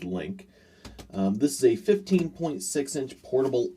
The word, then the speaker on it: LinQ: I'm gonna guess that might be pronounced Link.